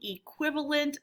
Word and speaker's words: equivalent: So you are making equivalent fractions. They mean they're the same amount. Say that, equivalent, equivalent. And we start with a long E sound with just an E.